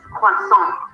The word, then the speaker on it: croissant: Some people may pronounce the first syllable with a W instead of an R, and another sound, croissant. I think it sounds more like French, croissant. So you have croissant or croissant. Both are okay.